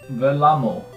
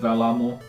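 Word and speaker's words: Vellamo: is, and it is Velamo. I think that's how you pronounce it. I did look up a pronunciation, and that's how the guy pronounced it, Velamo.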